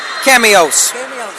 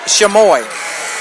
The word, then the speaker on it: Chamois: Now, Toby likes to call Chamois cameos. When that's actually not how it's pronounced at all. It's pronounced Chamois, like it's French or something like that.